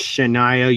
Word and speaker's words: Shania: I know it's pronounced Shania, you dick.